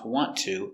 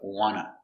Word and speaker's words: want to: in the cafeteria first so why do we pronounce want to like wanna well when you have a t and t together the t is silent so and you pronounce ta with a t sound want to want to i can say do you want to do you want to but it's more common to use wanna especially when you have